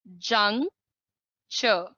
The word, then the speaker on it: juncture: Durga wants to know the pronunciation of juncture. ये जो word लिखा है juncture, it is pronounced as juncture. और ये जो TURE होता है, इसको हमेशा चर बोलते हैं.